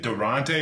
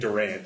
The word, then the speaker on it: Durant: the real nice pronunciation the E is silent just doesn't be there it's Durant so I apologize for